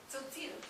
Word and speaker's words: Tzotzil: And I don't know how to pronounce this, but I'll give it a shot. Tzotzil? Tzotzil.